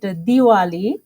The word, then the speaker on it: Diwali: Hindus call it, Nepalese people, they call it Tihar and Deepavali, but Indian also celebrate this festival, so they pronounce it Diwali.